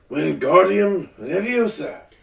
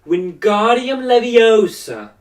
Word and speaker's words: Wingardium Leviosa: arms like a windmill you're saying it wrong Harry heard her - now it's Wingardium Leviosa make the god nice and long you do you do